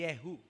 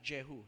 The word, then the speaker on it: Jehu: means yahwe is he kung ito ay i-pronounce ng hudo ang pronunciation ay yehu not jehu Yu yehu means or